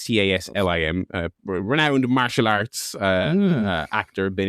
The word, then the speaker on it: Taslim: I always say Talzim, but it's Taslim.